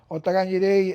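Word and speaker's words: otagai ni rei: Otegai nire. Otagai nire, everybody together. Okay. Together. Yeah. And more the pronunciation.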